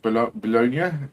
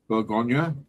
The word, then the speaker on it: Bugonia: Bologna? Did you see that? Bologna? No. The one with what's her bloody name? Bologna? I can't even say it properly. What is it? Bologna. Bugonia.